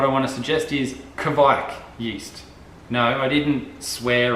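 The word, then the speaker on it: kveik: What I want to suggest is Kvike yeast.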